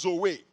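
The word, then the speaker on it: ζωή: the life of god the greek word is actually pronounced zoe amen so jesus is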